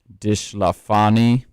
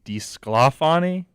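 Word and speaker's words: DeSclafani: Dishlafani gets the loss, I think is how you got to pronounce that. Maybe Disclafani? Disclafani? I think you're saying it with too much of an accent.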